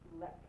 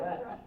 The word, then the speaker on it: Lech: First name starts with an L, rhymes with Ek. Lek. Lek. There we go. Lek. It looks like Lech, but he's not Lech. It's Lek.